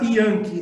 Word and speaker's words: Janke: Yankee, é origem alemã? Isso, origem alemã. Em alemão, o J, em alemão, ele tem um som de I, né? Então, por isso que a pronúncia é Yankee.